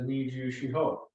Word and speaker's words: Nijushiho: So Niseishi, actually, if you pull the characters up in Okinawan, they are exactly the same characters as Nijushiho. So it's just the Okinawan pronunciation versus the Japanese pronunciation.